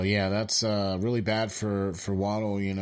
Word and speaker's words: Waddle: Waddle.